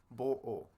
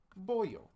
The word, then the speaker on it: boyo: This does not make bo-o. That would be very inconvenient. So instead, we have boyo.